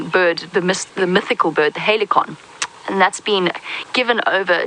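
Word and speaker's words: Halcyon: Now, Helicon or Helison, depending on how you pronounce it, here's the fun story behind that.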